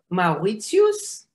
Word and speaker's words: Mauritius: We say it in Hebrew, Mauritius, as it is pronounced also in German.